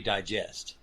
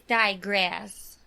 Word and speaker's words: digress: But we digest. Yeah, I know I'm saying it wrong for all of those out there who don't think I know. We're going to get emails. Right. It's digress.